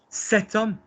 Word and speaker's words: cet homme: Cet homme, but we just spell it.